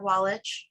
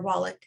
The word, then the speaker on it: Wallach: We're going to be joined by Yair Wallach, or Wallach, I think it's pronounced, with Shira Robinson as our interlocutor.